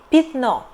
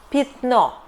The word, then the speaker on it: пятно: Пятно. We write пятно but we prononciate , , because Я is unstressed here.